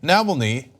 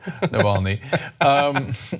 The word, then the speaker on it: Navalny: against them the leading opposition figure is Alexa Naville knee sorry for the terrible pronunciation Navalny so and he put him he had him